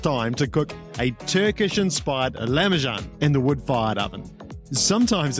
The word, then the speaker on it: Lahmacun: The Turkish version of this word is pronounced Lahmacun, I understand. June at the end of it. I'm a Kiwi, so we tend to say Lahmacun, but I think we all know what we mean.